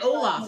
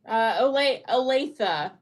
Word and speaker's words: Olathe: Because you're in Olaf, aren't you?